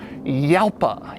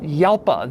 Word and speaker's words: Jalpa: heard one described, but the technical correct way to say it is Jalpa or Jalpa, like the name Juan.